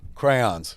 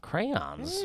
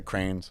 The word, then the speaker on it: crayons: Crayons. Crayons. 2 syllables. Gentlemen, Some okay. people say cranes.